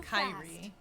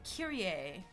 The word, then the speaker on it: Kyrie: extra speak it aloud spelled like not so Kyrie alright so this one it's actually a Curie a where is the other